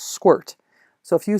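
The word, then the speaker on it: sqrt: the first one is square root although it's pronounced squirt so if you say capital m math dot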